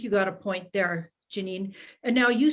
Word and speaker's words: Janine: little a lot of people did call me janie thinking that's how you pronounce it until you know but at home i was uh i was called janine uh until i got